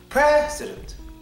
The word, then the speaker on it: president: first e that's it the first e the next two vowels are swad president president that's how we say it in America he's the